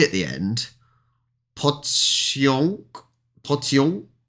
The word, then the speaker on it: pociąg: That's quite a difficult one to get the end. I'm going to just get him to say that again. Hang on. Ignore that one. Pociąg. See, that's saying it like a onk.